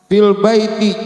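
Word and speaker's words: في البيت: terus ada tulisan begini Bacanya apa fil Baiti Jangan pernah ragu baca fil Baiti lu sok tahu lu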